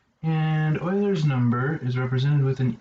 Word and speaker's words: Euler: So the ingredient here is something, first off, called Euler's number. And it's pronounced "oiler", like as in the Houston Oilers, but spelled E-U-L-E-R. And Euler's number is represented with